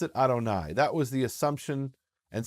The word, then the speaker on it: Adonai: read Yud-Heh-Vav-Heh in their Hebrew text, but they pronounced it Adonai.